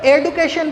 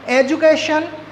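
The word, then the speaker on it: education: है while the reading, तो यहाँ पर रीडिंग करते समय हम D को ज साउंड प्रोड्यूस करके पढ़ते हैं। जैसे हम इसको, कुछ लोग इसको एडुकेशन भी कहते हैं, बट अगर हम एग्जैक्ट इसके प्रोनाउंसिएशन की बात करें तो इस वर्ड को हम लोग बोलते हैं एजुकेशन, ग्रेजुएट एंड ग्रेजुअली।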